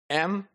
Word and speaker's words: anthropology: Similarly, we can have another example, anthropology. So we have the stress on pa, right? But contrary to thra, there is another syllable which is the first syllable, which has more force.